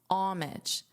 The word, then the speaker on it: homage: So to turn the H into a silent H and pronounce it as homage.